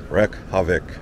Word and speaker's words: Reykjavik: Reykjavik.